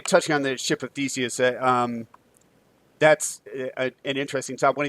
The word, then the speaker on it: Theseus: I think Lindsay mentioned this as we were kind of covering our story about the ship of the Theseus. Am I pronouncing that correctly? Theseus, yeah.